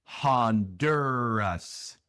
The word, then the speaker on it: Honduras: Así que la U es Hondu, Hondu. La R es una R inglesa, claro, es Hondur, Hondur. Y después la A es la schwa, no es A, sino A. Honduras, Honduras, Honduras.